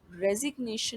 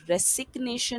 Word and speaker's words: रेजिग्नेशन: अब रेजिग्नेशन में as such कोई वर्ड साइलेंट नहीं है, बट रेजिग्नेशन में एस को ज यानी कि जेड के साउंड के साथ प्रोनाउंस किया जा रहा है, ना कि रेसिग्नेशन नहीं है, बल्कि रेजिग्नेशन है।